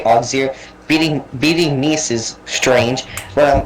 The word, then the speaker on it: Auxerre: Apparently that city's name is pronounced like either Auxerre or Auxerre, but I'm just gonna say Auxerre.